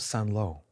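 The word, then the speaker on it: Saint-Lô: mentioned the Battle of San lo which is spelled st and then ello and he would any time he mentioned son law he would lower his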